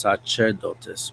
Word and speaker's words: Sacerdotus: I used the name Sacerdotus, which in reality is pronounced Sacerdotus, but it's the Latin phrase.